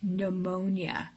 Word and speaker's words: pneumonia: those are things like pneumonia and that's pronounced with the n and you the p is silent another word where the